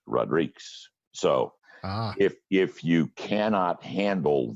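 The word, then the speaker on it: Rodrigues: D RI qu easy in Spanish you pronounce it Rodriguez and in Portuguese it's Rodriques so if you cannot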